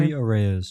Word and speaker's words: Luis Arraez: Is that how you pronounce his name? Luis Arraez.